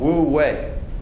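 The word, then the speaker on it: wu wei: uh DS introduced this term called woo way that's spelled Wu the second word is we woo way just out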